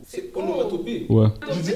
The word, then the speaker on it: onomatopée: Anomatopée. Anomatopée. A. C'est O. C'est onomatopée. Ouais. J'ai dit A? Ouais. Oh, ma bad. C'est O. Onomatopée.